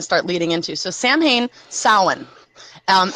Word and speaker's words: Samhain: to kind of start leading into so Samhain Salin um it's it's spelled s-a-m-h-a-i-n but the pronunciation is solid and